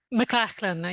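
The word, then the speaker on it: McLean: we are joined by Jade M CH am I pronouncing it right mclan yeah it's a Scottish pronunciation sorry um well she's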